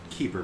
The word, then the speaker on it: Kuiper: well typically pronoun uh spelled kuiper but it's pronounced keeper for some reason yeah